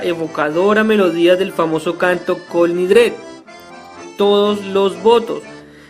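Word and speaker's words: Kol Nidre: melodía del famoso canto colindres todos los votos los judíos sefardíes lo pronuncia cal nidré se dice que se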